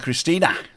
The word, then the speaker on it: Christina: Good evening, Tim and Christina. There you go. She spells her name just like Christine, but she pronounces the E.